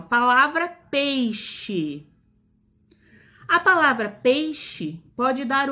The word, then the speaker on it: peixe: Som de CH. Olha lá o exemplo, ó. Peixe, caixa. Novamente, a palavra escrita com X, mas quando a gente pronuncia, a gente percebe uma pequena mudança no som, o som do CH.